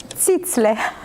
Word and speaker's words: Zizler: Zitzler.